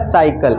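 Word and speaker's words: cycle: अगर मैं लिख दूं एस वाई एस सी एल ई ये क्या लिखा है साइकल इसको क्लाइक थोड़ी कहेंगे क्या कहेंगे साइकल तो सी के बाद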